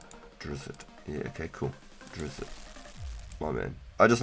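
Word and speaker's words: Drizzt: It's a name from a fantasy novel pronounced Drizz.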